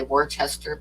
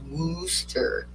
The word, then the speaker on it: Worcester: This town, the way it's spelled, I always want to say Worcester, but in Boston and stuff, they don't pronounce the R's. So the correct way to pronounce it was Worcester.